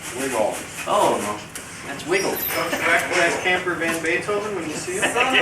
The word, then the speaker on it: Van Beethoven: Van Beethoven. Not Beethoven. What did I say?